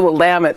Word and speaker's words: Willamette: get over there and that's the Willamette by the way it rhymes with damn it cause I have no